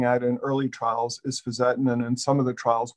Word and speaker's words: fisetin: So, how does he pronounce fisotin? The other agent that we're looking at in early trials is fisettin.